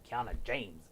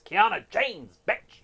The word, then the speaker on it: Kiana James: James do say it right or don't say it it's Kiana James that's